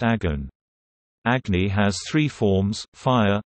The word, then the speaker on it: огонь: The word Agni is Sanskrit for fire, noun, cognate with Latin ignis, the root of English ignite, Russian ogon, fire, pronounced agon.